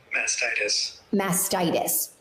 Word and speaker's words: mastitis: with mascara masticism mastitis hold up how do you pronounce it is it masticis mastitis what is it say it back to me mastitis thank you what we've